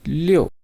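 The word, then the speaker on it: 六: ten in similar way six is leo leo 7 and what is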